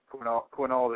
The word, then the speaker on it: Quinault: Has Mike ever been to Lake Quinault? And has there ever been activity out there? I think I pronounced that right. Quinault. Quinnault, right? Yes, I have been there, and that is a definite hot spot.